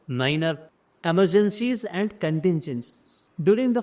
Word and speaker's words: niner: So this is how 9 is here pronounced as niner.